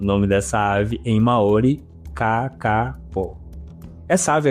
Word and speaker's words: Kākāpō: Então a pronúncia correta em Maori, e aí eu vou dar o meu melhor, tá? Não sei se eu vou conseguir, como o pessoal explicou, é Ka-ka-po.